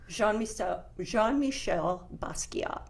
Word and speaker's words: Jean-Michel Basquiat: Jean-Michel Basquiat.